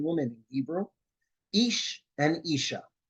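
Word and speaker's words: איש: put it together right ish and Isha they sound the same the difference between them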